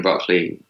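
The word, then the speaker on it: Brockley: shop really close to broccoli station that's not spelled like the vegetable broccoli like the name Brook within Le why yeah yeah yeah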